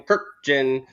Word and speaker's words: Kurkjian: He's always like, for ESPN or at Shea Stadium, I'm Tim Kurkjian. Yeah, he always hardly stops.